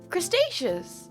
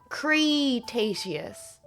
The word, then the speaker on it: Cretaceous: You're not crustaceious. It is pronounced crustaceious, right? Crustaceious. That's how I've always pronounced it. Cretace Cretace Cretaceous Cretaceous Cretaceous Cretaceous you.